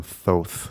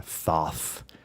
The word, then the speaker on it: Thoth: So the origin that I'm familiar with is that it derives from Thoth or Thoth, which is the root of the word thought. Oh. Or in some pronunciations, Jehuti, right? The Egyptian version of it.